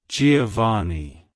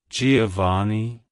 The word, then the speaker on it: Giovani: young it's pronounced as Giovani Giovani Giovani to pronounce it correctly emphasize the o sound in the first syllable and the ah sound in the last syllable the V is pronounced